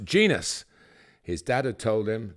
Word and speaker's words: Jenas: time, from Nottingham Forest, Jermaine proclaimed that his surname should be pronounced Genus.